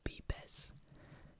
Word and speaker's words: vives: Donde vives, but I will point out that a V in Spanish is pronounced as a B, so vives.